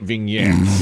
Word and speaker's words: vignette: Now I watch 30-minute vignettes. Yes. Each afternoon. See, what rhymes with vignette, BB Shea? I think it rhymes with vinaigrette.